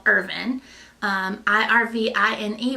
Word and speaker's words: Irvine: a town very small town Eastern Kentucky called urban I RV I and II but not pronounced Irvine like ever other city of that spelling but